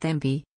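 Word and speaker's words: Cibi: The Sibi, pronounced Thembi, War Dance was traditionally performed by the Fiji rugby team before each match.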